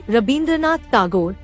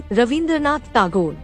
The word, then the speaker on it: Rabindranath Tagore: The letters Va and Ba exchange their pronunciations in terms of languages spoken in North and South India. For example, northern people say Rabindranath Tagore, southern people say Ravindranath Tagore.